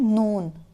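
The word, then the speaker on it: known: किया के इसका है नोन नोन नोन में के साइलेंट है इसलिए को उन्होंने हाईलाइट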